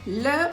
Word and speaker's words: les: இங்கே S pronounce பண்ண மாட்டோம், லே போம் அப்படின்னு தான் சொல்லுவோம். ஆனால் வந்து அந்த லேவை வச்சு அது நம்ம ப்ளூரல் அப்படின்னு சொல்லிட்டு தெரிஞ்சுக்கலாம்.